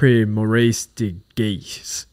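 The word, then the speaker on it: Maurice de Gheest: um it was the enjoy this pronunciation the ar ar Maurice de Gees Gees AR morce de GE previous winners includes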